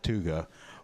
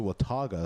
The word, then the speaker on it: Watauga: House Dallas Watauga social yesterday I pronounced it with tuga was promptly corrected that it was a Wataga so now I have